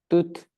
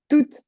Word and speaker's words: toute: Toute, Toute. Toi, tu m'as dit tout. Donc, oublie pas qu'il y a le E.